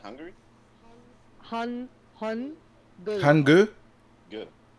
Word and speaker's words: Hangul: Hangul. Hangu. Good. Like, No, cook is spelled as Gook.